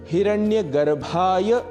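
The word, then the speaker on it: हिरण्यगर्भाय: ओम हिरण्य गर्भाय नमः यहां ध्यान रखना है हिरण्य गर्भाय नमः यह बोलना है। सामान्य रूप से उच्चारण दोष के कारण हम हिरण्य गर्भाय नमः ऐसा भी कह जाते हैं। पर यहां भ महाप्राण है। अतः प्राणवायु अधिक लगेगी और हम कहेंगे ओम हिरण्य गर्भाय नमः।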